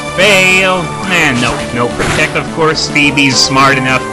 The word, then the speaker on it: Phoebe: That's how I believe that's how it's pronounced, Phoebe.